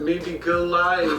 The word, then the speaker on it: Modigliani: Clue, the artist is Amedio Modigliani. I can't even pronounce the artist's name.